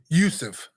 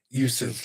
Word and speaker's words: Youssef: Youssef. Yes, sir. That's it. Youssef.